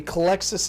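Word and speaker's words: Culexus: this is the uh i want to say it's called the collexus assassin i'm gonna double check my pronunciation yes the collexus assassin now he's a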